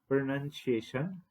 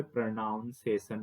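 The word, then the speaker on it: pronunciation: पे उच्चारण होता है जैसे यही शब्द प्रोनंसिएशन इसका एग्जैक्ट प्रोनंसिएशन है। लेकिन कोई इसे प्रोनाउंसिएशन भी पढ़ सकता है।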